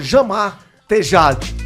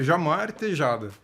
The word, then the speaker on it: Jamar Tejada: Jamar Tejade. Tá certo isso aí? Não, tá bem errado. Tá bem errado. Como é que pronuncia? Começamos bem, hein? Começamos bem, começou já nem sabendo o nome do entrevistado. Olha, um fã desse não precisa do dois. Jamar Tejade. Não. Também não. É Jamar Tejada.